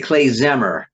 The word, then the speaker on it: klezmer: word, a compound word, which is pronounced actually klezmer in Hebrew. And it's very simple. Clay means tools or utensils. Zemer means melodies.